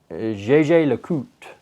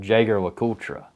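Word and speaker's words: Jaeger-LeCoultre: the holy trinity then there's a brand called jj le cout it's pronounced it looks like when you read it it's like jager lakotra but it's jj lecout or jesus so they're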